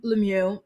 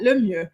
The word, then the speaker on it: Lemieux: couple Brennan and Alexa Lemieux decide why am I pronouncing it like that? Lemieux. Their last name is French and it means the best.